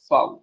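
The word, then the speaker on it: Vau: फाउ।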